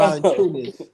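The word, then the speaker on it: Valančiūnas: Valanciunas. Oh, Valanciunas. Okay, Yeah. Valanciunas. I thought it was Valanciunas. Okay, No. Valanciunas.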